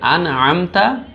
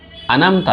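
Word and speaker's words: أنعمت: প্রথম শব্দ হচ্ছে সিরাতাল, তারপরে লাযিনা, এরপরে আনআমতা, আনামতা নয় ওটা, আন আমতাও বললে হবে না, আনআমতা, আনআমতা।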